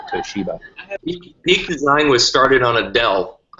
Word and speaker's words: Toshiba: I used to pronounce it Toshiba until I was probably about 22. Is that for real? Don't answer that. Gained a better world perspective, realized it was probably Toshiba.